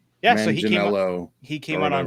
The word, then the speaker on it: Manganiello: I don't know how to pronounce his name. Yeah, Manganiello, so he came out on stage and he